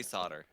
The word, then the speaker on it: solder: solder solder we say solder we say solder yeah we don't americaas we don't pronounce the L like we don't say